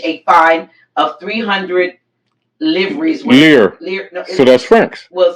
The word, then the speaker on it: livres: Lear. No, so that's francs. Well, spelled L-I-V-R. Yeah, lear. Okay. You don't pronounce the V.